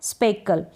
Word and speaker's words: स्पेकल: स्पेकल, SPE स्पे, SPE स्पे, और CKLE कल, स्पेकल मतलब धब्बा।